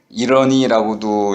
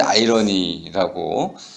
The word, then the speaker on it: 아이러니: 아마 그 벨소리로 지정하셨는데, 이러니라고도 예전에 읽었었고 지금은 이제 아이러니라고 읽고 반어법 이렇게 얘기를 하죠.